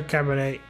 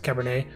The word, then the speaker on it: Cabernet: okay yuri razors are cabernet caber cabernet cabernet cabernet it's wine so i guess it's french so you don't pronounce the t in that case and